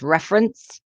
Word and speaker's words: reference: That's reference with the stress on the first syllable, reference, referee with a stress on the third syllable, and referral with a stress on the second syllable.